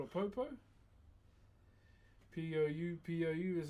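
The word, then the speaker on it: pou: So this is called a popo. P-O-U is how you spell it.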